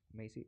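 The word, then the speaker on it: Macie: summit so Amazon Maisie Maisie it's supposed to be pronounced like amazing okay may say is totally new thing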